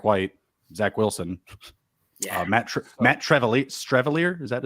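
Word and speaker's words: Streveler: Yeah, Matt Strevelier. Is that how you say it? Yeah, Strevler.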